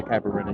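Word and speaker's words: caipirinha: drinking one of their famous drinks is called a Cabarena. It's pronounced differently, but you know the way we would say it is a Caparina.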